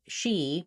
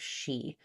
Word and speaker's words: she: what will happen is you may end up saying a word like she because it's shorter, a little more like sh instead of she.